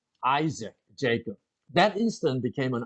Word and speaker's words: Isaac: 그리고 to Isaac. 자, Isaac and to Jacob as well. 자, 여기서 발음 한번 잘 해볼까요?